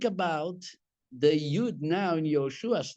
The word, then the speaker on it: Yehoshua: The Ben, which has three dots under, but two of them would take it to yeah, in order to pronounce it Yehoshua.